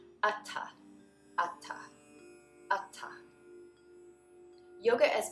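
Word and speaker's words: atha: Atta. Both A's are the sound, and the TH is not a th, but a t. A little extra air comes out after the T sound. Atta, atta, atta.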